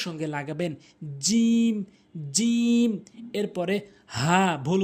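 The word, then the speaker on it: ح: নামাজ ভঙ্গ হবে না হা এর সঠিক উচ্চারণ হচ্ছে হালকের মাঝখান থেকে হা ভুল উচ্চারণ হচ্ছে হা সঠিক উচ্চারণ হচ্ছে হা।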